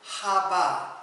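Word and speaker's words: חוה: 말은 생명을 주는 자 생명을 주는 자예요 그는 하바 하바에서 우리는 그 이제 하와 하와라는 이름을 아주 익숙하게 했는데 히브리 발음으로는 하바에서 온 말인데 이거는 생명을 주는 자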